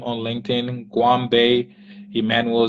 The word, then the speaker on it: Goanbei: am on LinkedIn my full name on LinkedIn Guam Bay Emmanuel so there's g-o-a-n-b-e-i Guam Bay g-o-a-n-b-e-i Emmanuel with an e e m m